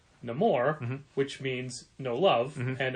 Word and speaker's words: Namor: There really isn't a Namor thing that we can point people towards.